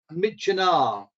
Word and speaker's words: Myitkyina: And it was only in my first trip to Burma in 1999 that I had someone tell me that it rhymes with Kitchener.